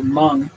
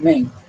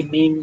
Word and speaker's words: Meng: The Chinese say Meng, not Ming. Now in the US, if you say Ming, that's fine, but the pronunciation in Chinese is Meng.